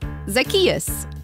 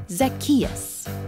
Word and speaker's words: Zacchaeus: that uh like this zacchaeus zack chachusa what no it's like zach just say it after me zacchaeus zackarecka dingdong all right